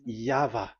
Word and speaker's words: Yahvah: Pronunciation is equal V. It is V. Y H V H. So it is YAHVAH.